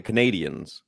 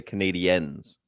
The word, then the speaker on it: Canadiens: Yes, they are not the Canadians. They are the Canadiens.